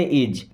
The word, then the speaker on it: is: देखिए डब्ल्यू एच ए टी इसे पढ़ते हैं। व्हाट? व्हाट मींस होता है क्या? इज आई एस को इस नहीं पढ़ते इज इज मींस है दिस और दिस मींस होता है यह।